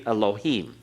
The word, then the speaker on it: Elohim: always the UH so we've learned to say Elohim ok Elohim it would be actually eloheem be barely there with the first part of